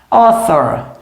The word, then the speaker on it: author: Author. Author é autor. tá? Eu tenho um TH aqui no caso. Quem tiver dúvida nessa pronúncia do TH, esse aqui é um TH voiceless.